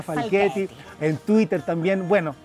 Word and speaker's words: Falchetti: Se escribe Falchetti, pero se pronuncia Falchetti.